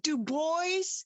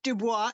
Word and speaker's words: Du Bois: Not Dubois, it's Du Bois is what he says is the correct pronunciation of his last name, Du Okay.